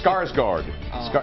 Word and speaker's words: Skarsgård: Can't pronounce his name. It's Skarsgård. Alexander Skarsgård.